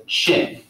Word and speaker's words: Qin: one known as the Qin. And in fact, it's a Q, but you pronounce it as C-H.